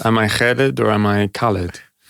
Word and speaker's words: Khalid: those you know because it's a name which exists in many cultures and so it should have all those pronunciations but in Egyptian it's the anglicized version is Khaled.